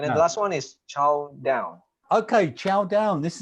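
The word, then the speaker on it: chao: It's spelled CH-AO, so it's kind of like chow. Okay, so which means to fry or cook.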